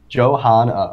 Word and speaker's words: Johanna: Right there. Johanna. Okay. See, I was right. Han. Okay, Han. like Han Solo.